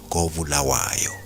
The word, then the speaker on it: Kobulawayo: The one in KZN is pronounced Kwabulawayo, and the other in Zim is pronounced Kobulawayo.